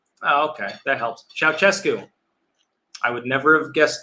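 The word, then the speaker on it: Ceaușescu: uh the romania comments the dictator's name is pronounced ciao chesku okay that helps ciao cescu i would never have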